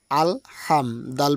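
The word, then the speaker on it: الحمد: আল হাম দাল পেশ দু আল হামদু এখানে কিন্তু অনেক ভাই ও বোন রয়েছে পড়তে গিয়ে এখানে বলে আলহামদু বা আলহামদু এরকম উচ্চারণ দেয় এটা এ উচ্চারণ হবে এখানে বলবে আলহাম লম্বা হা উচ্চারণে গলার মধ্যে শোষ করে শব্দবে হা এরকম হবে তাহলে আলহামদু লাম জের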